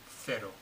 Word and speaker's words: cero: So, that was, if you notice, the 0 was pronounced cero, okay? And 10 was 10, okay? Because that's typically the peninsular pronunciation in Spain.